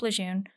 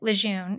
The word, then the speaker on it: Lejeune: Some will take umbrage with me pronouncing it Lejeune and will instead tell you that it's pronounced Lejeune. I can't bring myself to add an R where there isn't one, and we're going to get through this together.